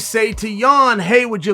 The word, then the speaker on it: Jan: is the polish powerhouse yawn you got to say it right yawn it's time to start pronouncing it the correct way yeah the polish